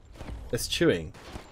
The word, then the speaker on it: eschewing: How do you say that word? It's chew. Eschewing. Eschewing.